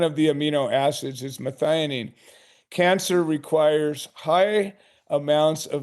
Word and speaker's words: methionine: And so which are the foods that uh contain this uh I can't even pronounce this. Methanine. Methionine.